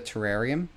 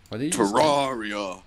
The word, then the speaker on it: Terraria: You're a bit of a Terrarium? Terraria. You're a bit of a Terraria, as the professionals say. That's supposedly how you meant to pronounce it. That is how you're supposed to say it.